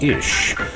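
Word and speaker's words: איש: the word husband in the original Hebrew language pronounced ish means Champion servant protector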